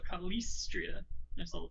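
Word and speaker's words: Calistria: l-i-s-s in there so kalistria should be like a double syllable on that s for some reason and i like this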